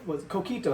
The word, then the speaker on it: coquito: Yes, but you say it like a gringo, though. You know what I'm saying? It's coquito. Coquito. Coquito. Yeah, put an extra emphasis on the key, right?